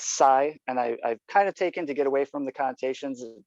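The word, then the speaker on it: psience: And then I also started a subreddit, and it's science, new science, and the science is spelled P-S-I-E-N-C-E. And that's psi, and I've kind of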